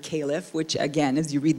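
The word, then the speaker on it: caliph: case um my uh both of those names are pronounced the same as at least one pronunciation of the word caleff which again as you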